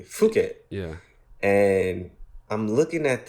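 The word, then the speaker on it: Phuket: like oh that's cool how about fuk I think that's how you say it properly fuk yeah and I'm looking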